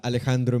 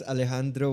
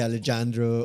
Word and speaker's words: Alejandro: They would say Alexandro or Aleandro.